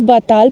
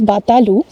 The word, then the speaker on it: Batal: So it's the word is Batal, but the exact pronunciation is Batalu, which means very speedy wind actually.